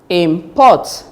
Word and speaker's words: import: Take note that the stress should be on the second syllable if it is verb. So it becomes present, present, record, object, import, suspect.